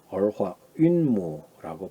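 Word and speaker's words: 儿化韵母: 자, 그러면 이러한 지금 8가지 지금 아화운모라 그럽니다. 얼화운모, 얼화윤모라고 발음을 하죠.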